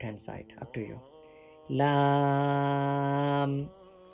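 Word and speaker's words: لام: For pronouncing lamb, touch the corner of tongue with the base or gums of three front teeth and first mer which is along them. From here you can pronounce lamb.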